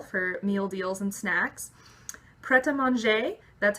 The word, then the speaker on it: Pret A Manger: meal deals and snacks preta manje that's how it's pronounced it looks like pret a manger if you're gonna be like weird and American about it but it's a French